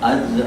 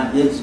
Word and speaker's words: عجز: نیست شرح عجز ماست۔ اچھا عجز ابھی ایک مرتبہ بس میں نے کہہ دیا ہے یہ جتانے کے لیے کہ عجز کا یہ صحیح تلفظ یہ ہے، لیکن ہمارا اور فارسی